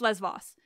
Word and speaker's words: Lesvos: print didn't correct that you correct my Les Vos and you're not wrong but also you're a tiny bit wrong but I'm not I promise I'm not telling you you're wrong wrong so yes it's lesvos no question I know the island